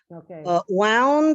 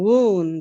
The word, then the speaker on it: wound: guess that would be the same wound and wound the pronunciation is totally different there yes wound wound one is when you get this like like uh right like yeah a wound but wow just like all wound up compact which would be